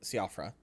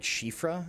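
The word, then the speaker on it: Siofra: uh uh uh cafra which is not how you pronounce that but I forgot what I forgot how people pronounce it like shifra I think I don't know I don't get Welsh also chat want to hear something funny it's not SE offr it's like like shifra um did you know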